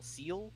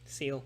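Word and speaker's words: Ciel: Kui Kui arc and how do you pronounce the name CIE L seal seal someone he'll see our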